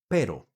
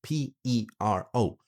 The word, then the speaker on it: pero: Pero, meaning but. And it's very important. Pronunciation tip here. Be very careful. because this one is spelled P-E-R-O with one single R, right?